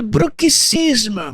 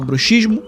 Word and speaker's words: bruxismo: Ah, Felipe, a pronúncia correta é bruxicismo. É, não era. A língua é viva e quem manda são os falantes. E se a gente fala bruxismo, agora é bruxismo e acabou.